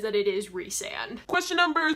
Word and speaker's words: Rhysand: People call him Rhysand, it's Rhysand, and I love it, and it's perfect. There are plenty of interviews out there with SJM where she actually says that it is Rhysand.